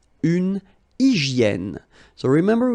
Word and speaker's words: hygiène: Une hygiène. So remember, we've got this Y here, vowel, and it's pronounced like E, okay?